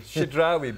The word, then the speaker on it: Chidrawi: He'll pronounce his surname himself. He's Lebanese. Please give your surname. Chidrawi. Chidrawi, big word.